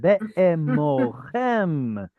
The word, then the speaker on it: באמרכם: Ah, there it is. Be'emochem. Very good. Pesky Kamatz Katan right there.